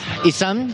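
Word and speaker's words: Izan: Isam. Se escribe como I-Z-A-N con un acento en la letra A.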